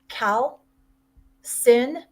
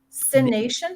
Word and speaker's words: calcination: Cal sin. Sination. How do you spell that?